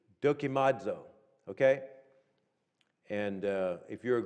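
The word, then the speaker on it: δοκιμάζω: word proved here d-o-k-i-m-a-d-z-o is the pronunciation with the accent on the d dokimodzo okay and if you're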